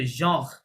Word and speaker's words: genre: genre. ঠিক আছে? হ্যাঁ। তাহলে এটা হবে জঁর আর পর্যন্ত উচ্চারণ করতে হবে।